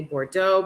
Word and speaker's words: Bourdeau: You can stay connected with me at the Bordeaux.